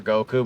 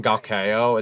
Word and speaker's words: Goku: When they called him Gakeo, it's like very, like, he had butchered it, basically. It's just Goku.